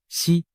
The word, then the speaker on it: 石: 胡锦涛，石在某些方言里读作西，石难逃